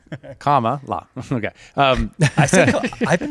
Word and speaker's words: Kamala: Kamala? Like Comma? Like comma? Camelot? Like a Kamala? comma, la.